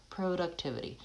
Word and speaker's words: productivity: It's very important to not use equal syllable strength. So I don't want to say productivity. Productivity. Tivity is very fast. Those syllables are reduced and short.